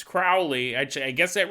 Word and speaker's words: Crowley: he goes, if you haven't recorded the episode yet, Crowley is pronounced like cow with an R. That might be the most confusing way. Crowley, it's not Crowley, it's Crowley.